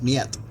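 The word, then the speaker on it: нет: But it sounds like niet. See what I was talking about? H-E-T? H is pronounced niet.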